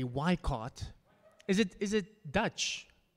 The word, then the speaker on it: Weikart: Wikipedia page so uh so Professor am I pronouncing it correctly why cart is it is it Dutch German so it's actually weikart yeah yeah okay in South Africa we'll we'll do it and he is Professor of history at California